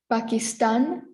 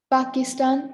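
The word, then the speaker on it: Pakistán: del sur after that we have pakistan not pakistan or pakistan but after pakistan is second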